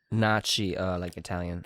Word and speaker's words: Fibonacci: Oh, Fibonacci. Fibonacci. F-I-B. O-O-O. Nachi. Oh. Nocci. Nachi, like Italian.